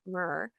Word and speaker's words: Meurer: So, I'm gonna correct your last name here because I know I butchered it in the intro, but I want to welcome Carmen Mr.